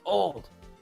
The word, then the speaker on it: Olde: It's pronounced old.